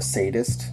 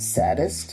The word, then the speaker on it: sadist: And so it got to a scene where they're discussing the Baron and calling him a sadist and a murderer. Yeah. But in the English dubbing, they pronounce sadist saddest.